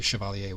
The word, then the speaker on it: Chevalier: I took French in high school many, many years ago, and that's just how I pronounce it, would be Chevalier, which is the French word for knight.